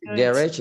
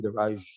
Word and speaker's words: garage: Garage itu di British. Orang Amerika bilangnya garage. Bukan garage. Ditiup.